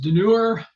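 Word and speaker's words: Dunure: at hole number four this is denure rhymes with never mind okay so this is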